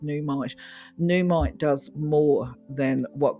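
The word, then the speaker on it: Nuummite: In fact, I would say that it's similar in some ways to namite, but numite, oh, actually, it's not pronounced namite, is it? It's pronounced numite.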